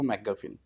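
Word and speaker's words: MacGuffin: হ্যাঁ, ম্যাকগাফিন, ঠিক প্রোনাউন্স করে থাকি, ম্যাকগাফিন, এটাই হ্যাঁ।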